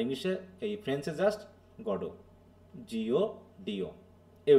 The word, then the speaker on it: Godot: হ্যাঁ, তাহলে হচ্ছে এখানে টিটা সাইলেন্ট হবে।